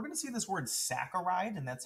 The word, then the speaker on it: saccharide: next up we're going to see this word saccharide and that's how you properly pronounce it not saccharide or saturate it's a fancy way to say